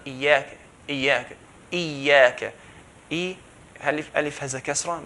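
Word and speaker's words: إياك: If you have a fatha, Iyyaka, so it's very clear. Iyyaka, here there's a shadda. If we drop the shadda and we only pronounce 1 ya and say Iyyaka, then the meaning would change.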